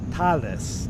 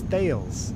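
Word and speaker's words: Thales: very cool all right Talis no it's Tails it's pronounced Tails Tails T I thought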